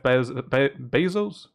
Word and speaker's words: Bezos: People think of fucking Jeff Bezos.